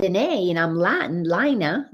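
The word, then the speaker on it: Laina: and his name is spelled the way my name is l-a-i-n-a lina and since um i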